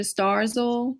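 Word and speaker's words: Starzl: during your residency um is it pronounced dr starzal yeah yes what was it like being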